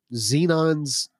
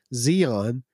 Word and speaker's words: Zeon: that I would hold up as examples of xenons excuse me I said it wrong again Zeon is not all evil people right you know